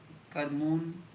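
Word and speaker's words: Kerman: Karman, locally called Karmun, would have become a syllable for cumin in European language in the process of time.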